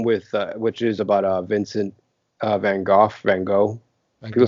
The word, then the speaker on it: Van Gogh: It's the Willem Dafoe film with which is about Vincent Van Gogh.